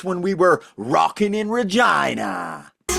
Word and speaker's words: Regina: That is how you pronounce it. Regina, Saskatchewan.